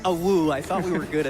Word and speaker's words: Awoo: It's pronounced a woo.